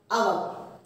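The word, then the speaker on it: hour: Our. How we pronounce the word? Honest. H is silent.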